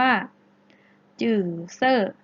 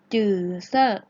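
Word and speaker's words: 紫色: สิ คะ ฮะ โอเค บาง คน ยัง ออก ไม่ ชัด นะ คะ ออก ว่า จื่อ เซอร์ สื่อ เซอร์ ดื่ม เซอร์ อา พูด ตาม หลัก ซื้อ นะ คะ จืด เซอร์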